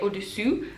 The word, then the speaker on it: au-dessous: super well But also, there are just some vowels that are really, really similar, and make a big difference, in fact if you pronounce the wrong sound For example, "au-dessus" (above) and "au-dessous" (below) That makes a